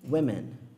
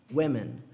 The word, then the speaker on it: women: Então, para homem não tem diferença de pronúncia, mas para mulher tem. A gente tem aqui woman e women. Woman, women.